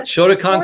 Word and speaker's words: Shotokan: Shotokan right am I saying it right yeah Shotokan karate fourth degree it isn't first degree that